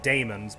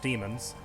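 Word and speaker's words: daemons: a bunch of demons that's d a e not d e m so like demons but pronounced demons not to be mistaken for demons which are totally different right um [ __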